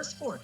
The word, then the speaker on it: Gliscor: Cass is also on Team Yes, Gliscor. Gliscor is it's the anime official pronunciation.